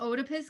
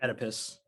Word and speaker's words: Oedipus: some talk about the otopus complex is that how you say it oedipus oedipus otapis tomato tomato so this is always been